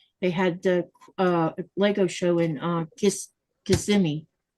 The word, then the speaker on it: Kissimmee: It's called Kissimmee It's called Kissimmee. But if you want to learn how to spell it, just say Kissimmee.